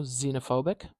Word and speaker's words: xenophobic: We can have, I don't know, xenophobic. Xenophobic, that starts with a Z sound.